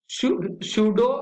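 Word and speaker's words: pseudo: आगे बात करेंगे अगली हमारी हेडिंग है HAL बनाएगा एक सूडो सैटेलाइट। देखिए यहाँ पे पी साइलेंट रहेगा, इसको हम पढ़ेंगे सूडो सैटेलाइट।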